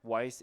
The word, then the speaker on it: Yss: Do you know that the the best hero for wise is the YSS? We wis the No, if you pronounce YSS, it's like wise because it's Y plural.